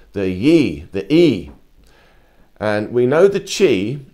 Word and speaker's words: Yi: In the Taoist philosophy, they have a thing called the Yi, the E.